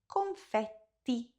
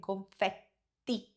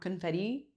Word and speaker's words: confetti: The word is confetti. Pronounce it like you would in Italian. Confetti. Okay? So, not confetti. There's no d. There's a t confetti.